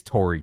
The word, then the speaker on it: Tory: Oh, I call him Tony. It's Tori. Tory Horton.